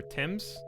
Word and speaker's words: Thames: with me nobody knows the river tim's t-e-m-s just don't say it again i like how american